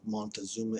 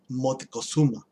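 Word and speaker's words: Motecuhzoma: He was the successor to who we know as Montezuma, which is an English term, and the actual pronunciation of Montezuma is Motecuzuma.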